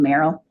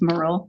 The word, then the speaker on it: Merle: Marcian trying to come in, and just an FYI, I made the same exact mistake calling him Merrill, and he corrected, it's Merle.